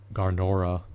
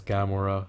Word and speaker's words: Gamora: Neither is um Garnora, I believe that's her name, her moniker maybe. And it's pronounced actually is Gamora.